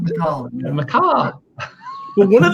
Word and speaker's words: Macallan: It's Macallan, not McAllen. Macallan. It's Macallan, not Macallan.